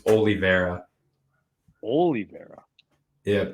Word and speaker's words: Oliveira: prediction how did i say it wrong it's oliveira holy mera yeah it's only very square i swear i've heard people say yeah whatever anyways charles oliveira is going to beat justin gabriel charles oliveira is probably my favorite ufc fighter so i'm